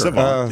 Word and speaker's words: savant: savant, you know, and did I say it right? Sure. Savant, yeah. Savant.